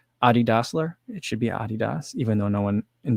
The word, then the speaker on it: Adidas: kind of like adi dassler it should be adidas even though no one in the u.s pronounces it correctly uh known in the us